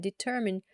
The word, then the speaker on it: determine: Tax code is the set of rules and regulations that determine how taxes are calculated and paid.